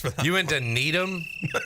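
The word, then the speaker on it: Needham: you went to Needum is it like needam is that how it spelled that's how people down here would probably pronounce it need them how's it spelled NE e d h a m okay I'm saying I'm saying down here people would pronounce it that way what are you saying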